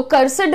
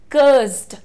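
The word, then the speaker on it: cursed: लेकर के आई हूं तो कर्सिड नहीं होता है वो और इस तरीके से बहुत सारे लोग एड को बहुत स्ट्रांग प्रोनाउंस करते हैं प्रोनंसिएशन सुनिए कस्ड क एस और डी को ब्लेंड कर रहे हो आप यहां पर कस्ड एस और डी को आपने ब्लेंड करना है यानी उनका मिश्रण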